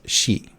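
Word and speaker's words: 四: of the pronunciations or the number four in Japan is she so it's your two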